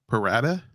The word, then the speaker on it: pro rata: Prorata. Or at it. whatever. We all understand. Continue, Aaron. I think I said it right. Pro rata. You did say it right. Yeah, it's Latin, Ed.